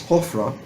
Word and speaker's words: Hofra: But the actual pronunciation is Hofra or Hofra. And the Greeks made it Apries, and it became Apries. At any rate, Hofra, that's how he's called in the Jewish Bible, is routed by Amasis.